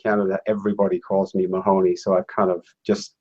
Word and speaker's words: Mahoney: why are you money and not Mahoney well uh money is how it's pronounced in Ireland and it's an Irish